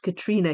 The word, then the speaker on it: Catriona: Yes, yes, I'm Irish and Catriona is pronounced Katrina here.